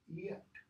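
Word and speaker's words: giet: his father and fa what's the next word g-i-e-t we even have the pronunciation almost tomorrow english yet yet okay and then when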